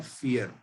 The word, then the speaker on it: vier: 4 पे आ जाते हैं। 4 की स्पेलिंग है VIER, जिसको हम प्रोनाउंस करते हैं फियर। इंग्लिश में जिसको डर कहते हैं ना, फियर, वैसा एकदम प्रोनाउंसिएशन इसका, फियर।